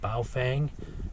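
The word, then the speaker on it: Baofeng: have two way radios believe this one is pronounced bow Fang added on this handheld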